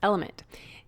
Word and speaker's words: LMNT: our sponsors lmnt element it's spelled lmnt but pronounced element if you haven't heard